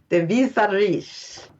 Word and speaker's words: De Visserij: And it's called, ready for this? De Visserij. And it's spelled Devessirij. It means the fishery.